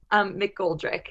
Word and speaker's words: McGoldrick: How do I pronounce Hannah's last name? McGoldrick. Okay, Hannah McGoldrick.